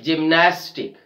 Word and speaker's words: gymnastic: So let's take the next word, gymnastic, gymnastic. We are stressing on the second last syllable, gymnastic.